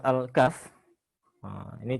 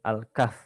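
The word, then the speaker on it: الكهف: Nah kalau di surat al-kahf ini cara bacanya juga harus perhatikan ya Alkaff bukan al-kahfi karena huruf terakhir tidak dibaca seperti misalkan al-fatihah bukan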